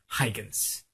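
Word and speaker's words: Huygens: he's a Dutch and so it's very difficult to pronounce his name but I'll give you the pronunciation it goes Hans yeah you hear it again here it is yeah now I cannot pronounce it that way so I'm just going to go ahead and call him Hygens.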